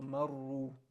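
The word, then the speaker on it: مرّوا: And again, we mentioned this earlier, that the alif there is silent. The alif indicates that it's that the word is plural. So here the word is plural, and you're not going to pronounce the alif.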